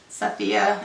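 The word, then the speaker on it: Safiya: Again, Sophie's trying so hard, or Sophia, S-A-F-I-Y-A, Sophia, I think is how you say that.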